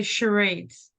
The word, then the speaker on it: charades: It's spelled funny, but it's you say charades.